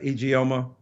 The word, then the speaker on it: Ijeoma: Yeah, this young, brilliant scholar, help me pronounce her name. I think it's is it I-J-E? I want to get her name correct. Yeah, I-J-E-O-M-A. Right, Ijeoma.